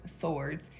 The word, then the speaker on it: swords: don't say swords but I guess like he could hear the w a little bit more than it's supposed to be in there and I was like